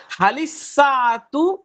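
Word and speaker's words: هل الساعة: এখন প্রশ্নবোধক করলে হালিল না ইস জি হযরত হালিস। হালিস হ্যাঁ এটা, সাআতু হবে এটা হলো হরুফে শামসিয়া, এই জন্য শামসিয়া। নামটা। হ্যাঁ জি, তাহলে হবে হালিস সাআতু জাদীদাতুন, ঘড়িটি কি সুন্দর?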